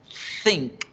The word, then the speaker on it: think: La palabra pensar se escribe think y se pronuncia think, think, think.